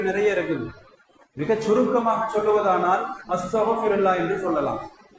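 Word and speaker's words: أستغفر الله: மிக சுருக்கமாக சொல்லுவதானால் அஸ்தக்ஃபிருல்லாஹ் என்று சொல்லலாம். உச்சரிப்பு கைன் உச்சரிப்பு வரும், அஸ்தக்ஃபிருல்லாஹ், அஸ்தக்ஃபிருல்லாஹ், யா அல்லாஹ் உன்னிடம் நான் மன்னிப்பு கேட்கிறேன்.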